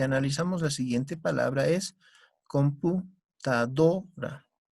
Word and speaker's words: computadora: En ese sentido, si es que analizamos la siguiente palabra es computadora. ¿Dónde está la mayor fuerza de voz, chicos? En la do. Decimos computadora.